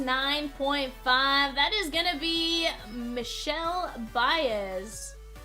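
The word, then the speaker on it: Michel Báez: Fun fact is that's actually how it's pronounced. We thought it was Michael Baez, but no, it is Michelle Baez. Diamond pointed that out one time, and we're like, no way. No, sure enough, that was the correct pronunciation.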